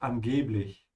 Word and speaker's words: angeblich: Stretch the E a bit, angeblich.